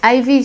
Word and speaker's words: Ivich: Ivich, on prononce comment? Ivich. Ivich, oui.